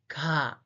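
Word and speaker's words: ㄱ: The first consonant in Korean is ga, ga, ga. The pronunciation is ga, ga, ga.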